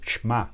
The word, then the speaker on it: Shema: Ele é conhecido, inclusive, em língua hebraica como Shema, ou Shema, como a gente pronuncia em língua hebraica.